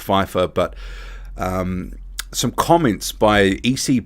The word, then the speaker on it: Pfeiffer: changed from eric pfeiffer i always want to say fifa because the um i had an art teacher same spelling she pronounced it fifa but apparently it's pronounced pfeiffer but some comments by